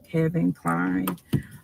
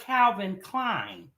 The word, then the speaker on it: Calvin Klein: And then I got She can't even say the word Calvin Klein. Like since you should have heard the word Calvin Klein so much cuz you should know how to say Calvin Klein.